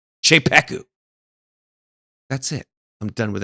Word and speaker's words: Czepeku: Cheeku is a little hard to spell so I will spell it for you. That's cz e p e k u. Cheeku.